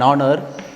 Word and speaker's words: honor: So that's why H totally it is silent.